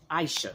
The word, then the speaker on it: Aisha: into um Aishas No, Aisha. She sent me a a message and told me how to say her name. Her name is Aisha. Uh she said the A is silent.